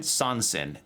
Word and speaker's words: Sansin: Sansin. S-A-N-S-I-N. That's how it's spelled.